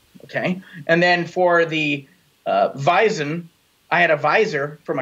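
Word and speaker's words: Weizen: Weiss vice WEEI SS e w e i ze n bison they're very similar they sound the same we have a w that sounds like a V they both end in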